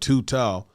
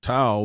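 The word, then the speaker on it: Thao: I think it is it how do you pronounce this, Chloe? Tao? I think it's two Tao. All right, Tao.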